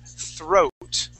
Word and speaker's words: throat: the word throat okay give me a good T HR sound th throat throat all right right now what you're saying you're saying throat okay we want to make sure that our tongue is between our teeth like that we say